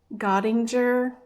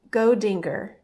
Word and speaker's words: Godinger: I had to look up how to pronounce this because my tendency was to say Gottinger, and that's just not right. So, I asked Professor Google, and he said it is Godinger and company.